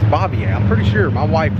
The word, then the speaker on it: Bavier: I keep wanting to pronounce that differently, but it's Bavier.